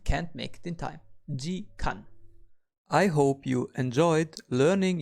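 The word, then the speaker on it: 時間: We pronounce an hour as jikan.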